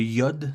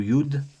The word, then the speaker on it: Yod: qu'on s'est Yod ou yude alors il y a deux prononciations pour le nom de la lettre soit on va dire iode soit on va dire ude de nos jours en